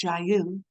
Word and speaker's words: JAYU: Stemming from their roots in North Korean human rights awareness, the organization was named JAYU (pronounced jah-you) which means freedom in Korean (자유).